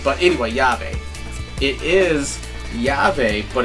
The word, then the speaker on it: YaVe: anyway yve it is yave but it's spelled you know pronounced the Spanish way which is yave so I know what